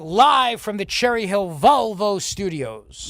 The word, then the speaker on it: Volvo: It's more like Valvo. Valvo. Like Valvo. Well, all I know, Dawn, is that we are live from the Cherry Hill Volvo studios.